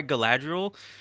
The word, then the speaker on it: Galadriel: want to see why Galadriel can turn kind of evil I'm sorry pronouncing it wrong it's Galadriel okay yeah all right that's